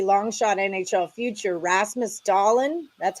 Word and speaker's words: Dahlin: back to hockey long shot NHL future Rasmus dahlin that's how you say it don't tell me it's not for the Sabers to win the Norris plus 10 000.